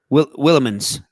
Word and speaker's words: Willemijns: So like, I bet the J is silent. Willemans from Belgium.